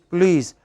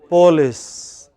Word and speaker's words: police: Similarly, our researchers found that when you do not pronounce police, how should it be pronounced? Police. But many people from Maharashtra, Andhra pronounce it as police.